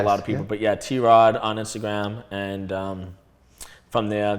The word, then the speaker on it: TROD: people first see it a lot of people think it's pronounced trod and I'm like no it's it's it's T rod that's actually a really